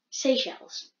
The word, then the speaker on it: Seychelles: actually learned how to pronounce it so it's pronounced Seychelles south africa south african grade five people's people